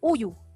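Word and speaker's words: 우유: Ya, bacanya adalah uyu. Uyu. Uyu artinya adalah daging sapi. Uyu artinya adalah susu sapi. Uyu. Ya. Ini adalah pertemuan dari huruf ing dan huruf u, akhirnya dibaca u, bukan ngu ya.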